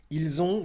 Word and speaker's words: ils ont: Ils ont ou elles ont. Et c'est ça ici la problématique de bien prononcer et de différencier ils ont et ils sont.